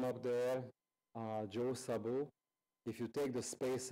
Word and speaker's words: Szabo: You see, my signature, I put the Z into the S, because it's difficult for Americans to pronounce my name otherwise. So the correct pronunciation is Szabo.